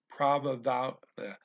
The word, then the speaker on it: provavelmente: got a compound word, the first word would normally have the L pronounced as a ooh, then you have to keep it as an ooh. So it's provavelmente.